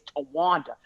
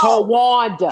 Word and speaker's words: Tawanda: My name is Tawanda. You can't get no blacker than that. Three syllables. 3 syllables. Tawanda.